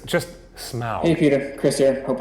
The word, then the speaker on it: Smaug: It's not pronounced Schmaug. Is he trying to be funny? Have a look at them. It's just Smaug.